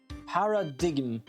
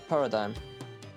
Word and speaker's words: paradigm: me Paradigm Paradigm Jesus it was the digm that I couldn't really pronounce I don't know why Nick but I'm getting awful sleepy all of a sudden Paradigm did I Paradigm okay thank you Jesus why do they have a g in there for Generations par